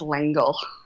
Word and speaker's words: L'Engle: meline langle correct and I did check on how it's pronounced yeah I I did too I checked Wikipedia and Wikipedia uh confirmed that it is langle let me ask you